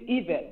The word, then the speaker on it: Yvette: It's Yvette, by the way. Yvette. Now, it's pronounced Yvette.